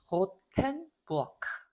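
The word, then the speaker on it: Rothenburg: 자, 요 발음이 뜨 발음이 아니고 트 발음이 난다고 했죠. 그래서 호텐부어크 있는 그대로 읽으면 됩니다.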